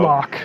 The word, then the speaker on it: Malak: Official pronunciation confirmed. So Malak. If you hear anybody saying Malak, send them right here to the archive of this stream. Our design lead has told us it's Malak.